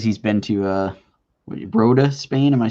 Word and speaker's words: Rota: Warner says he's been to Rota, Spain.